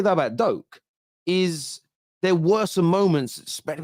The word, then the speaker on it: Doak: It would be Doak, wouldn't it? Oak with a D, Doak.